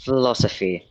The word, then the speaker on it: philosophy: They decided that in this case if you put P and H together um it should make an F sound.